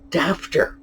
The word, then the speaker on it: daughter: area at least uh we know that the word daughter was pronounced dafter really interesting that pronunciation